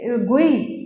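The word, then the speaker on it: GUI: उसके अलावा आपके पास सेकंड है गुई भी प्रोनाउंस करते हैं इसको, और कहा जाता है इट्स a graphical user interface.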